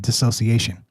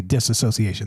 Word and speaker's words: dissociation: Dissociation is how you say that. I always want to say disassociation. There's a an extra ass in there. This shouldn't be in there.